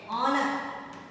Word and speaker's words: honor: If the word is silent, like honest. Okay? Honor.